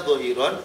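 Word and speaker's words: ظاهرا: Biasanya tulisannya dhahiron tapi bacanya dhahir. Tulisannya dhahiron, bacanya dhahir.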